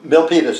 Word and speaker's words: Milpitas: so i left was this uh il patel milpitas is the pronunciation yeah so-called thousand corn fields okay okay